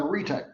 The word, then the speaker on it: arete: That's how you pronounce that, arete.